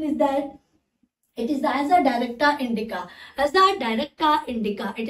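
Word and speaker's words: Azadirachta indica: इट इज द एज अ डायरेक्टा इंडिका, but the correct pronunciation is that it is as a directa indica, as a directa indica, it is the as a directa indica।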